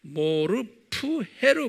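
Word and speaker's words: μορφή: 똑같이 이 둘로스라는 종의 모르푸헤, 정확하게 하면 모르페보다는 모르푸헤로 발음하면 좋겠어요.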